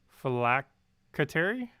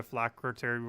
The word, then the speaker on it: Phylactery: Phylacracy is pronounced as the C as a K. Phylactery?